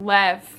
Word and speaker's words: Lev: Lev, that's his name. Lev, not Levi. I was saying it wrong, but you know, I don't care.